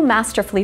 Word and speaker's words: masterfully: the U is silent the U is silent in these three words masterfully beautifully and wonderfully and it's true that